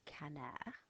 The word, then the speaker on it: canard: So, if I want to say a duck, I know it's this word which you pronounce canard.